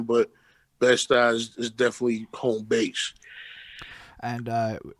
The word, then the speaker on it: Bed-Stuy: Bed-Stuy, is that how you say it? Yeah, Bed-Stuy, no doubt.